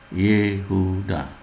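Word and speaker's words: יהודה: Diucapkan seperti mengucapkan huruf E pendek dalam kata emas. Sefa bersuara diletakkan di bawah sebuah konsonan awal sebuah kata seperti contoh berikut ini. Dibaca Yehuda.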